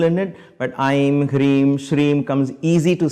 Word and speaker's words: श्रीं: i'm not i'm i'm shreem you have to lengthen that okay so i'm just